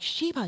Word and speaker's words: Shiba: Spell it. And you spelled it for me. Sh H I B A. I'm like Sheba.